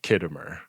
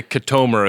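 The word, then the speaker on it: Khitomer: Sam, the hologram lady, mispronouncing Kittimer. She calls it the Katomer Accords, and it's like a real aha, but you didn't remember the Katomer, and I'm wondering if that is so far in the past that nobody really remembers how to pronounce it.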